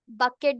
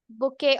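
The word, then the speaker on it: bouquet: है बी ओ यू बकेट बोलते हैं ठीक है बुके ऑफ फ्लावर ठीक है इसे बुके पढ़ते हैं टी साइलेंट है यहां पर बुके ऑफ फ्लावर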